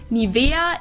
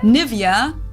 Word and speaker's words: Nivea: native speakers usually say Nivea Nivea in German we say nia nia so the emphasis is on the E the they didn't know